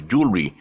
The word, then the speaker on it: jewelry: The jewel, 2 syllables, actually is a triphthong. It's actually jewel without a W, so it's jewelry.